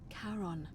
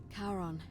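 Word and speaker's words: Charon: c h a r o n as in caron the ferryman of the dead karon who in exchange for the right coin helps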